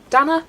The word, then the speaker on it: Dana: Dana rhymes with Hannah.